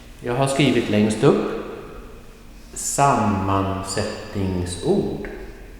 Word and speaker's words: sammansättningsord: Well, the first thing to remember, in such a long word, sammansättningsord, there will be not only one stress point, there will be two, but never more than two stress points.